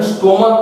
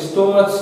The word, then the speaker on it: stomach: এস করব, অর্থাৎ এস, শুধুমাত্র এস, কারণ এর উচ্চারণ স্টোমাক হচ্ছে, স্টোমাচ না।